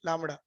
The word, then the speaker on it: lambda: Wavelength denoted as a lambda. इसको ऐसा pronounce करते हैं LAMBDA, लैम्बडा।